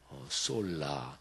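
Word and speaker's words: sola: 오직 믿음으로 하면은 라틴어로 오직 이런 말이 솔라 이렇게 발음해요.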